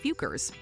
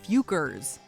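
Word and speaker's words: Focker: But in their defense, the questionable word is pronounced Fukers.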